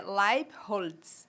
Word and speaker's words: Leibels: Então, é só Leibels, ele tem origem alemã e a pronúncia é Leibholz.